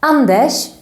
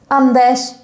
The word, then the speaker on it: Anders: have andesh again here you see an r but you don't pronounce it like an r we pronounce it like